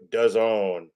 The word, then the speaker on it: DAZN: Yes, we are doing Devin Haney versus Regis Prograis on DAZN, which, as we all know, rhymes with calzone.